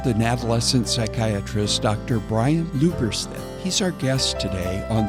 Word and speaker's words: Lubberstedt: I say it the very German way, Lubberstedt, and Lubberstedt. There. Did I get it close?